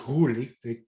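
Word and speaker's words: Roelly: His name is pronounced Ruli.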